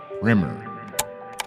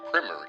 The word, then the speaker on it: primer: Fred's Front Porch Podcast, Primer. Pronounced primer in America as opposed to primer, which is the first coat of paint.